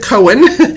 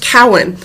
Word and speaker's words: Cowan: pronounced is C hen I'm often called Cohen um maybe it's because of my fascination with Jewish genealogy but um but my name is actually pronounced Cowen but just because your